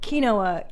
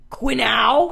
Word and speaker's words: quinoa: time number one we call we don't call kinoa quinoa we call it quau qu Joey Diaz pronounces it in our home quow am I